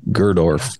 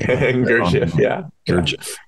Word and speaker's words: Gurdjieff: and your reference to Cynthia and Gerdorf, or however you say his name. Gurdjieff.